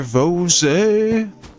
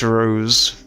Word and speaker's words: Rose: So, yeah, let's go speak to Rosé. Although it's not Ros, it's just Rose. She doesn't have an accent on the E. She's just Rose, not Ros.